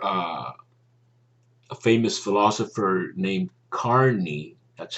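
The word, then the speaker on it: Kearney: etc i remember uh a famous philosopher named carney that's how it's pronounced i think it's spelled k-e-a-r-n-e-y i forget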